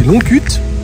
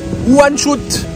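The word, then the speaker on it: Łańcut: Enfin, ça s'écrit Longkut. Longkut? Bah oui. Mais ça se prononce Wanshut.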